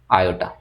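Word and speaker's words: iota: अब आपका आता है आई क्या है, आई को बेसिकली लिखते कुछ इस तरीके से हैं, और इसका नॉन प्रोनाउंसिएशन क्या होता है, आयोटा, ये इसका प्रोनाउंसिएशन होता है।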